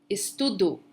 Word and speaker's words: estudo: Então, eu sempre estudo no fim de semana. Notice that the pronunciation of the O at the end in Portuguese, it's going to sound as an U, ok?